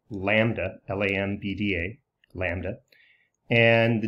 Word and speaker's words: lambda: that distance with the Greek character this is pronounced lambda LAN BDA lambda and the distance between successive